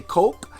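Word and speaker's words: kok: me we're super immature is spelled k-o-k or some people say coke and some people say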